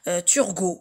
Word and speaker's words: Turgot: Ils peuvent être produits, élaborés, et la langue se transforme et peut être transformée selon Turgot. Selon Turgot, ça s'écrit avec T-U-R-G-O-T.